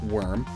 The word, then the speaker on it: Wyrm: Though it could also be a play on Wyrm, sometimes pronounced worm.